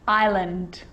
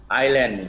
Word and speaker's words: island: now an s can also be silent and i know that you've already struggled with this one island island island yeah i'm eastland i